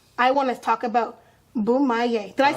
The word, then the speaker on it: Bomaye: But first, I want to talk about Bomaye. Did I say it right? Yeah, you got it right. Bomaye.